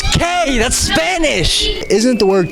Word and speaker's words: que: bunch of silent letters the word q it's q-u-e that's k that's spanish isn't the